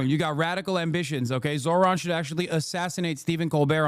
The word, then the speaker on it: Zohran: The H in Zohran isn't silent.